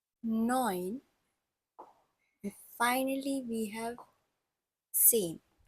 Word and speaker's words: zehn: And then we have sieben, acht, neun, and finally we have zehn. So Z has a bit of TS sound in it. That's why it's pronounced as zehn.